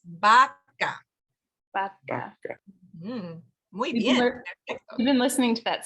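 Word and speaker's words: vaca: our bottom lip but in Spanish it's actually B so for example this word here the kids's favorite song Baka baka yeah so you notice I'm not saying V vaka okay it's Baka you've been listening to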